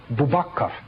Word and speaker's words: Abu Bakr: We also find that Abu Bakr in West Africa is pronounced Bubakar.